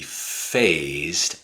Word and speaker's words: phased: phased The P doesn't make a sound. That's right. Sometimes the letter P teams up with the letter H to make the sound. That's the sound that the letter F makes.